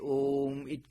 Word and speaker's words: Om: pronounce onar you find if you pronounce it long way om it ends in silence it ends in in a transcendental silence where sound ceas to